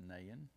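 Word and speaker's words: Nain: afterward jesus traveled to nahan it's spelled n-a-i-n pronounced nahin which is about 25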